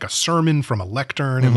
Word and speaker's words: Lecter: with cannibal and then also something about lecter sounding like lectern which is like where